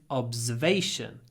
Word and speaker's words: observation: And the noun in English is observation. So it's to observe, but observation. The stress moves.